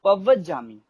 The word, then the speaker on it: पवज्जामि: फिर लास्ट में शरण वाले में चत्तारी शरणम पवज्जामि। अब हम लोग बहुत से इस शब्द को भी सही उच्चारण नहीं करते, पवज्जामि, पवज्जामि, मैं शरण में जाता हूं।